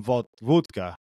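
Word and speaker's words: wódka: hey let's go and we can drink some V vka that's the Polish pronunciation and uh you know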